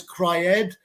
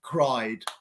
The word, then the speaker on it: cried: pero says yeah cried no it's cry Ed it's cried so that is the